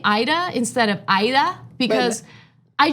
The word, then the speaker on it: Aida: but I don't but it's not ADA and I for many years I grew up people calling me ADA because I didn't want to make people uncomfortable by correcting them and saying my name is Ida but then when my